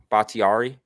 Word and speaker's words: Bakhtiari: How do you say this guy's last name? Bakhtiari? Yeah. Is that how you say it? Yep.